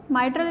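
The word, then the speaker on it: mitral: Bicuspid valve जो है उसका दूसरा नाम होता है मिट्रल वॉल्व। ठीक है, माइट्रल भी कहते हैं कुछ लोग, मिट्रल भी कहते हैं, आप जिस तरह इसको प्रोनाउंस कर लें।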